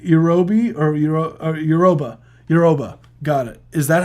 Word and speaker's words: Yoruba: I know, but Yorubi, right? Yorubi or Yoruba? Yoruba. Got it. Is that how you pronounce it?